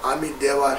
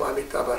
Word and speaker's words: Amitabha: now, Om Amitabha Hi, or in Tibetan pronunciation we say Om Amideva Hi. So either way is fine. Sanskrit pronunciation is Om Amitabha Hi.